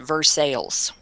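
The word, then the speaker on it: Versailles: correct pronunciation of that here it's pronounced versales so with that said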